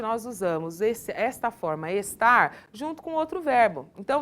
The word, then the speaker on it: estar: tem o hábito de não pronunciar o r final das palavras então no lugar de nós falarmos estar nós temos o hábito de falar parece que nós estamos falando está dá pra entender ou